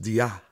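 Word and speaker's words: διά: diya and it's pronounced dia dia with the accent on the a and it's a primary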